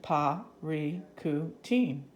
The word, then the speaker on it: Parícutin: team povery ku team that's the pronunciation para tu team so that taught me how to pronounce it because I'm not familiar with that word PAH Riku teen pal Riku teen pop